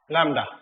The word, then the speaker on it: lambda: लैम्डा, B silent है, बी की आवाज नहीं आएगी, लैम्डा।